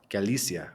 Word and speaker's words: Galicia: Portugal you were spending time in Galia or Galicia um how do you pronounce it what's the what's the right pronunciation uh it's Galia Gala okay Galia and you you were visiting your